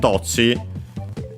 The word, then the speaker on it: どっち: For dochira and dochi, is the rule prevails for both. And so it's accented on the first syllable. Dochira, dochi.